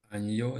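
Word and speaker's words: año: це не треба знати ця літера Може читатися просто як нь А часом як нь Ну ніби додається й так спробуйте прочитати оце слово аньо Да аньо Так аньо аньо це єдина така літера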